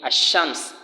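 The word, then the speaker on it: الشمس: There are two ways. There are the one you pronounce as if you are pronouncing al-qamar, as if you are saying the moon, and there is the one you are to pronounce as if you are saying ash-shams, the sun.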